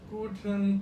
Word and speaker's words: Guten: When you see me, I say guten. The paper moves, right? So there is a closion, a closive sound at the end.